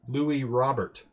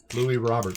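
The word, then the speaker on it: Luis Robert: heard the other day his name is pronounced Louie Robert Louie revert so it's kind of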